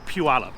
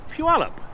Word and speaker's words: Puyallup: that it's p-u-well up it's an Indian Reservation name this is what is called Puyallup it's not too bad keep pronouncing it keep repeating it and you'll get it and trust me Puyallup see how easy that